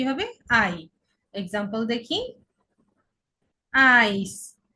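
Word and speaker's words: Eis: Example দেখি, আইস। ইআই এর উচ্চারণ আই, সাথে আইস।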